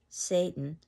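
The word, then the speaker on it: Seyton: is consulting someone and the name is spelled s-e-y-t-o-n and if you were to pronounce this out loud satan then you would see that this is a play on satan s-a-t-a-n the idea that macbeth now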